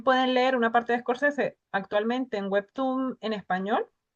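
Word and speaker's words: Scorsese: También se pueden encontrar escorcese. Escorese se escribe s corsese, es, o sea, es corsese, pero sin la al principio, ¿vale?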